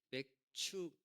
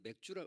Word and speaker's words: 맥추: 맥추 맥 장로님 오늘 맥주라 맥추라고 하셨죠? 기도하실 때 제가 당부를 했거든요. 근데 제 맥추같이 맥주로 들려 가지고 또 이게 잘못된다 여러분 발음 잘하셔야 돼. 맥주 아니고 맥추.